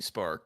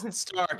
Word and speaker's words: Stark: So, if it's That's in he's no Tony Spark, but I mean, Tony Spark, yeah, who can be? I are you Spark Industries. Spark, missed opportunity. Stark. I mispronounced it.